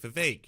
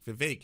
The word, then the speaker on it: Vivek: He's constantly like, Vivek, it rhymes with cake. Vivek, it rhymes with cake.